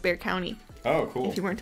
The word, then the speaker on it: Bexar: interesting story about um a legend about uh bear county so bear county is the county in texas where san antonio is and it's spelled b-e-x-a-r so often times if you don't know how